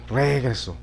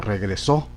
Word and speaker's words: regresó: Si lo ponemos en la penúltima sílaba, regreso, regreso, regreso. Sería correcta, pero la idea no es escribir regreso, sino regresó, ¿sí? Vamos a ubicarla entonces en la última sílaba. Regresó, regresó, regresó. Lo llevaría aquí en la O.